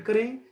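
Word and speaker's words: Carew: थोड़ा मेरे को कोऑपरेट करें। और आइए, टॉमस कैरी, इनका प्रोनाउंसिएशन कैरी है, ये कैवलियर पोइट हैं।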